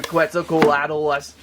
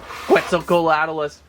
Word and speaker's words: Quetzalcoatlus: I believe there were lots of requests to check out the all-new Quetzalcoatlus. Hey, did I say that okay? Quetzalcoatlus.